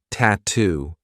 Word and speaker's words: tattoo: te what's the attire another word that I love for practicing the true T is tattoo we have two true T sounds t t and then two tattoo is